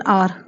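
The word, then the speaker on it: hour: left her office N आर क्योंकि H silent है आर से आर से शुरू होता है इसलिए द एंट इज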